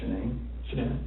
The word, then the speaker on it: Shanann: And I don't want to pronounce her name wrong. Shanann.